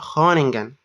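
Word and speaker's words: Groningen: دي وقلتها غلط برده هنا بتتنطق خونجن الار ما بتتنطقش لا خلي بالك انا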